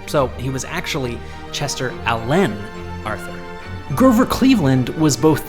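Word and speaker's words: Alan: abdomen Chester Allen Arthur chose to pronounce his middle name with the emphasis on the second syllable so he was actually Chester Allen Arthur Grover Cleveland was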